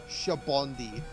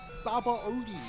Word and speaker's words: Sabaody: She says, okay, she pronounces Sabaody Archipelago as Shabondi. It's supposed to be Shabondi. That's how it's pronounced. No, it's not. It's not pronounced that. Both the Japanese and English dubs pronounce it as Sabaody.